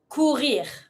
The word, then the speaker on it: courir: Courir. Pronounce the R. Courir.